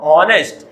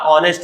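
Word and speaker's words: honest: इसीलिए बच्चों हॉनेस्ट, हॉनेस्ट नहीं बोलते बच्चों, इसको हम क्या बोलते हैं, हॉनेस्ट नहीं होता इसका प्रोनाउंसिएशन बच्चों, क्या होता है, ऑनेस्ट होता है।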